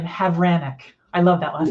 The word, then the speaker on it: Havranek: here with Gina I love Gina's last name havranic I love that last name did I say